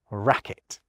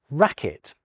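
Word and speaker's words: racquet: Well, how about in racket? Take it away along with its parasitic U and you still get racket.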